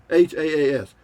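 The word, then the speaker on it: Hass: haas h-a-h-a-h-a-a-s or h-a-s-s h-a-a-s it's pronounced haas avocados i mean they're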